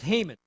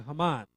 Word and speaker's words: Haman: Thirdly, there's Haman, or Haman would be the proper pronunciation.